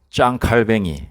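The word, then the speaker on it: Jean Calvin: 그러나 성경은 우리의 영혼과 육신의 구원과 생명을 얻기에 충분한 그런 기록이다라고 종교개혁자 짱 칼뱅이, 우리가 흔히 말하는 존 칼빈이라고 그러는데 이건 원래 자기 이름이 아닙니다. 이건 영어식 발음이고 자기 이름은 짱 칼뱅이라고 그래요.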